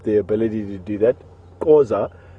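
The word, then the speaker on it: Xhosa: Causa is how you're supposed to pronounce it, with a lot more pronounced click.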